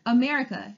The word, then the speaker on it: America: The second word, America, it also has the schwa sound spelled with an A, America.